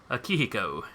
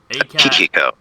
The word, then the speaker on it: Akihiko: Was it Akiko? Let me look at it to make sure I'm pretty. Akihiko. Akihiko. Akihiko. Alright, actually spelled that right. Good. Sure, spelled like it sounds.